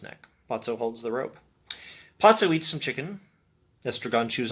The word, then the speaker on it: Pozzo: and lucky arrived potso i think the only pronunciation i've heard is potso it's p-o-z-z-o p-o-z-o p-o-z-z-o